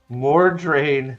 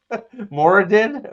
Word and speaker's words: Moridin: Chris f for $1.99 Mor drain spell it right moridin is it Mor moridin yeah moridin sorry moridin spell it right my